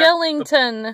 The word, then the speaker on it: Skellington: never say his name you know what it's Jack Skellington the Pumpkin King it's the real okay it's like a take on the word skeleton but instead of saying skeleton he says Skellington I don't know if